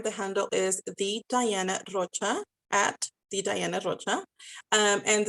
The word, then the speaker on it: Rocha: I try to say it in English, and then people always say, like, you should have your accent in Spanish. It's in Spanish. And I'm like, but anyways, but Rocha, it's spelled Rocha is